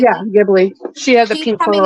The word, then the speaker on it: Ghibli: Like Susie's coming out with her is it Ghibli? Is that how you say it? Ghibli? Yeah, Ghibli.